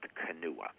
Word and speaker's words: Kanawha: what is called the canoe river valley it's spelled like kanawha k-a-n-a-w-h-a but it's pronounced kanua that area is extremely